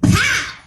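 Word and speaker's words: PAWM: mona munyani and i am the ceo of path yes that's how you say it honey it's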